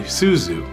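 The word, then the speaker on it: 鈴: And that'll be Suzu.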